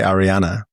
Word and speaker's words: Ariana: So, you went to see Ariana Grande. I cannot say Ariana.